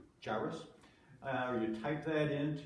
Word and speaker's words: Jairus: And Jairus is the right way to pronounce it.